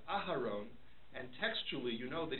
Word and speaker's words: Aharon: So the example that's brought down in the Mishabur and other poskim is if he says Aaron instead of Aharon, and textually you know